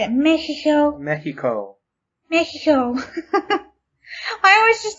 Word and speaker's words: Mexico: You have the English way and the Spanish way.